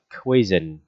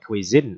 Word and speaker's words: cuisine: Tiếp theo bạn học về cái từ là cuisine, ok ha. À, sorry, đọc là cuisine, âm hai nha, đọc là cuisine, ok.